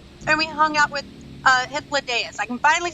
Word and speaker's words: Hythlodaeus: And we hung out with Hythlodaeus.